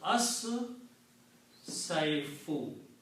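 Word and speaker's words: الصيف: Also, sheen and swad both are shamsi letters and they kill the sound of lam and make them pronounced twice with the shadda.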